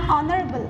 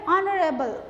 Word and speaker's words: honorable: What this an R, an honorable. Why, children? Here, because both the H is silent. H we don't. We say R, A. We pronounce with A. A is a vowel sound. Yes. And here honorable, A.